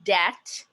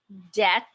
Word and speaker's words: debt: you say the word debt debt it just sounds like d-e-t don't pronounce the letter b there's no doubt that